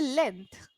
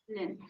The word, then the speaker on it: length: okay we don't say uh length we say length length yeah yeah so the this particular sound you